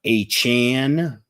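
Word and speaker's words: Achane: of the question was the answer before uh a Chan for whatever reason defying the laws of English pronunciation A Chan um I'd go after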